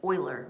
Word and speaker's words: Euler: a man named boiler who spells his name in a quite remarkable way it's spelled like that but it's spoken like this like euler right um he was